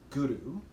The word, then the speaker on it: Guru: And when you pronounce or chant Guru, you want to use the tip of your tongue to the roof of the mouth and back of the front teeth.